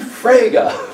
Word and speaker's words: Frege: guy and eventually I was Oh you mean fragga okay there are certain terms in and especially